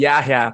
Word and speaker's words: Yahya: my first question is for both of you, Jake and Yahya. Is my pronounce correct, Yahya?